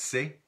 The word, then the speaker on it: chez: easy in Louisiana French sometimes pronounced say without the H say or and shaves